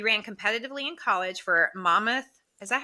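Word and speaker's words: Monmouth: known self he ran competitively in college for Mammoth is that how you say it Mammoth it is it's on the Jersey Shore too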